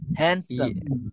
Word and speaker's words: handsome: হ্যাঁ, ডিটা উচ্চারণ হবে না, হ্যান্ডসাম ইয়েস ইয়েস এক্সেলেন্ট।